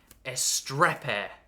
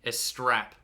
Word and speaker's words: Astrape: doing unboxings of the game Diaz strap hair no I think it's just pronounced is strap p1 750 watt power